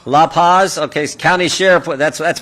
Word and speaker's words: La Paz: are and I want to make sure I pronounce these lupas like to say that County right La Paz okay County Sheriff that's that's what a Buckeye